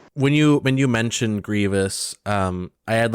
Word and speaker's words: Grievous: talking about grievous but he was pronouncing it grievous pronouncing the eye and i was like no no it's grievous he's like um actually it's grievous because there's an eye in it and like